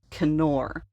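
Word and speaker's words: כִּנּוֹר: In Hebrew, this is pronounced Kenor, and it appears 40 times in the Old Testament.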